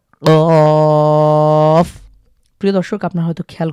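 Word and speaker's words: قاف: তো এটা ক একটু ধাক্কা দিয়ে আমাদেরকে উচ্চারণ করতে হবে।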